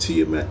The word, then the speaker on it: Tiamaat: It's pronounced Tiamat.